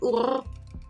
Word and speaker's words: Ur: Just pronounce Ur in the German way. Ur.